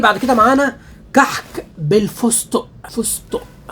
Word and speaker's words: فستق: كده معانا كحك بالفستق فستق انا كنت مفكر يا جماعه ان هي بتتكتب فزدق بالدال فزدق زي ما بننطقها كده طلعت مكتوبه ايه فستق ده بقى كيلو برده